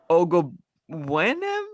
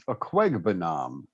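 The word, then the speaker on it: Okwuegbunam: Ogobwenem? I don't know. It's almost spelled phonetically. It's Aquegbanam. Oh, okay. Ooh. That sounds You're easy. right. It looks easier than it is.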